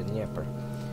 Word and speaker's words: Dnieper: The Dnieper. That's how you pronounce it. I finally figured out that you pronounce Dnieper, Dnieper.